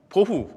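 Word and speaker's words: בֹהוּ: 또 공허라는 말은 히브리어로 보후인데요, 토후, 보후, 마치 라임을 맞춘 것처럼 발음이 비슷하죠.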